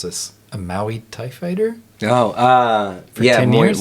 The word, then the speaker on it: Muay Thai: Yourself, Michael, you were I'm going to mispronounce this, a Muay Thai fighter? Oh, For 10 years? Muay Thai.